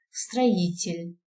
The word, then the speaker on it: строитель: Строитель. О. Пишем О, произносится А.